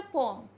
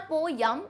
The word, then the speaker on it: poem: It's just a पोम, पोम. तो जैसे आप अगर प्रोनाउंसिएशन भी इसका देखोगे ना, इंग्लिश ब्रिटिश प्रोनाउंसिएशन कुछ इस टाइप का आएगा, पोम. सो इट्स नॉट पोयम, इट्स पोम.